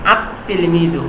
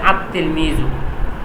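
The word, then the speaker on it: التلميذ: তিলমিজুন এখানে আছে আতলমি আতলমিজু অথচ এখানে কি লাম আছে অথচ বলা লাগ কি আল তেলমিজু কিন্তু না এখানে লামটা উচ্চারণ না হয়ে তা ডাবল উচ্চারণ হচ্ছে আতলমিজু এইজন্য আমাদেরকে এই উপরে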